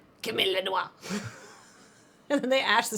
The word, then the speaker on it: noix: Or noix. Or noix. Don't pronounce the X.